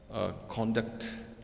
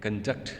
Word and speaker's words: conduct: So the first pair is conduct and conduct. There is also difference in pronunciation. As you can see, for the case of noun, the first syllable is stressed, and in the verb,